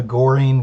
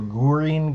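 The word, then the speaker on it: Göring: kind of a a goring gambit kind of idea the gurine gambit i guess is the proper pronunciation for gurin's name it has the g o with the um lap above it um black plays knight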